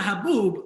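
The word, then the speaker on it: حب: me wow what do what so what does habo have a translation like so so so uh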